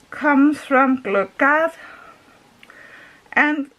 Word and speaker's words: gløgg: In Danish we just say gløgg. It's because we have some letters you don't have in many countries.